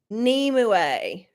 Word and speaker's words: Nimue: Pronounce Nimue.